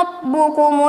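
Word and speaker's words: رَبُّكُمْ: Di sini terdapat huruf ro, yang dimana huruf ro itu ditandai dengan huruf berbaris fathah atau atas. Maka cara membacanya, ro-nya dibaca tebal, kedengaran bunyi ro, bukan dibaca rah.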